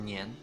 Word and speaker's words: 年: Years nila is pronounced as nian.